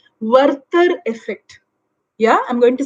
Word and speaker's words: Werther: to read up on this particular concept called verter effect yeah i'm going to spell it w-e-r-t-h-e-r werther effect now worker effect i mean it's a concept